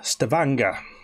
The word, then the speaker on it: Stavanger: viking in norway in uh stavanger which rhymes with hangar that's that's where we